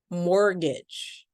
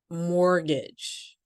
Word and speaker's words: mortgage: in the American English, the following letters are silent. We just don't say them. For example, fillet. You can repeat after me. Fillet. Mortgage. Mortgage.